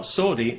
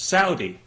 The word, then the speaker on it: Saudi: have said to me you know you're you're pronouncing that wrong it's not sordi it's Saudi well okay fair enough I'm happy to pronounce